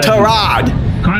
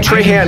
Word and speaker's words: Trahan: Ryan Tarad. The announcer. You got his name wrong. Ryan Trahan, okay.